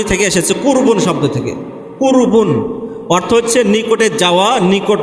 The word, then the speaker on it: কুরবানি: কুরবান এটা মূল শব্দ এখান থেকে উর্দু বা ফার্সি উচ্চারণ আমরা করি কুরবানি অর্থাৎ যার মাধ্যমে আমরা